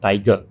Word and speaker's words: TIGR: fintech holding limited under the ticker tigr or quite atly pronounced tiger right okay this also means